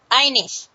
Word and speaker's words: Ineich: ladies okay uh our guest tonight is anik am I pronouncing that right anik Anish it's German I iish we I'm just G